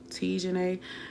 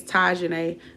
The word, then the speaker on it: Tajane: It's pronounced. Tijane. No, but that's what people always say. It's Tajane. But the way you saying it is like how you would pronounce it if you're trying to pronounce something correctly. But no, it's Tajane.